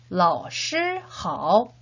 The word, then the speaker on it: 老师好: 老师好 라고 표현을 하죠. 역시 다시 한번 한어병음 기억하면서 3번씩 발음해 보도록 하겠습니다.